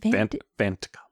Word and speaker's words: Vantika: And so at this point, Bashir does not believe that is it Vantika. You got to say it like Bashir. Vantika.